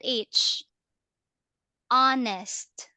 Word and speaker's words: honest: this is ah silent h onest honest yeah we don't say honest all right Silent Age for example my husband is an honest human you don't pronounce the h they are silent honest human human means